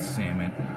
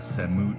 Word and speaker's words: Samut: favorite accurate commanders and I do pronounce it salmon I don't think a set mood sounds right so anyway salmon is